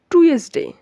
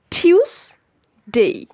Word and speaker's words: Tuesday: সো এখন আমরা যেটা শিখব, আমরা এটাকে সবাই নর্মালি বলি টুয়েসডে। এটার সঠিক এবং শুদ্ধ উচ্চারণ হচ্ছে টিউসডে, টিউসডে, টিউসডে, টিউসডে। Repeat after me, টিউসডে। সো আজকের পর থেকে আমরা এটাকে টুয়েসডে বলবো না, এটাকে বলবো টিউসডে।